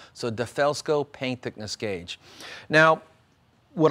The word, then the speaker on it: DeFelsko: e l l sco defelsko it's not del fest go like a dell computer it's a defaelsco so defelsko paint thickness gauge now